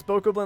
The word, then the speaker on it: Bokoblin: You can pronounce it Bokoblin, either way. But I just like Bokoblin because it sounds, I mean, at least for me, it's easier to say, but Bokoblin does also make sense.